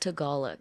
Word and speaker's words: Tagalog: It's pronounced Tagalog.